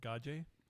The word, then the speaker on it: Gage: next up Andrew Gage I believe that's pronounced gaj uh maybe even yeah you kind got that g exactly how I would pronounce it gaj gaj I believe it's French also a Midwest War